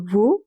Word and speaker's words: veut: Il veut, he wants. T is also silent.